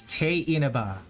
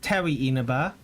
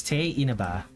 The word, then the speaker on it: Tewi Inaba: This particular character is T Inaba. It is not Ti Inaba even though it's spelled that way. It is T Inaba.